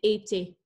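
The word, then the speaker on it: étaient: It's a verb in the past tense, so the ENT is the I Right. guess you don't pronounce it.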